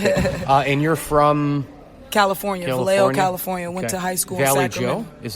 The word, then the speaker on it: Vallejo: Vallejo Valley Joe. Yeah. Who told you that? Him? Maybe. That is. Yeah, maybe. Yes, Vallejo, California. That's how you pronounce it.